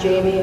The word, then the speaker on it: Jami: Side note, it's spelled J-A-M-I and it's pronounced Jamie.